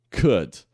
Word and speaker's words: could: fato é pronunciada mas esse L aqui ele não é pronunciado Ok é só could então é por isso